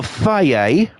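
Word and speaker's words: Fage: So, why is there a yogurt that people call Faye and it's spelt fudge?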